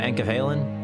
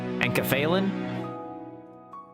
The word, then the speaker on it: enkephalin: Son, where's my enkephalin? Alright, bro. Am I pronouncing it right? Is it enkephalin or enkephalin? Enkephalin? Enkephalin? Enkephalin? Enkephalin? Enkephalin sounds right. Because it's meant to sound like a drug, right?